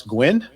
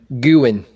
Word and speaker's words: Guin: Up in, help me pronounce this, Gwyn? Guin. Guin. Guin.